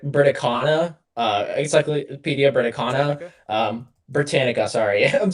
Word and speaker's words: Britannica: So, um, so apparently like this Brit Britana, uh, Encyclopedia Britain, um, Britannica, sorry, I'm saying it wrong.